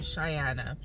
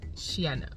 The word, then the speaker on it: Cheyenne: So I told him, I'm like, oh, it's English, so it's really Cheyenne. But in French, you would say like Shiana or something, you know?